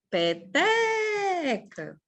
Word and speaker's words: Peteca: Peteca. Olha só. Penúltima.